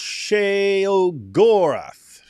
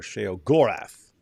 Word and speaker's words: Sheogorath: It's pronounced Sheogorath. Or Sheogorath.